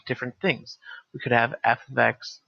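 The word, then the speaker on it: f(x): H of T but this is pronounced f of X this is not F times X X is the argument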